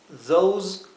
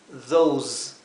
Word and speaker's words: those: Those are. Esos son o aquellos son. Fíjense, these, those. La S no es la S suave, no es these, those, es these, those.